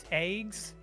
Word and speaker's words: AGWS: And then the reason they're called eggs in Xenosaga, it's technically AGWS, Anti-Gnosis Weapon System. They're pronounced, depending on the voice actor in the English dubs, it's eggs, AEGS, or eggs. Eggs.